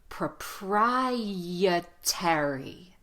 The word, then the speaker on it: proprietary: in another lesson but right here we're using the Y Shadow to connect the propri the why in propri to the uh sound so we're going to put a big yeah sound prep yeah proprietary proprietary proprietary perfect there's also another strong